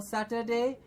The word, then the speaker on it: Saturday: absolutely Saturday Saturday yes all we are doing here is making sure it does not become a chair in the middle and it does not become such a day but a sash Saturday saturday Saturday yes most of the times we will get some students who will be calling its atcha with a chair in the middle make sure we correct it to become a Saturday now some very other